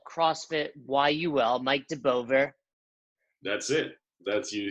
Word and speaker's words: Deboever: are in Montreal CrossFit why you will Mike de Beauvoir that's it that's usually a mistake when they pronounce my name Lord you can bend mean